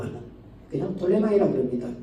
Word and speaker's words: 프톨레마이: 그 아프리카 쪽은 이 프톨레마이라고 하는, 그냥 톨레마이라고 그럽니다. 근데 우리는 발음을 할 때 그냥 프톨레마이라 이렇게 얘기하죠. 그들은 그냥 톨레마이라고 얘기합니다.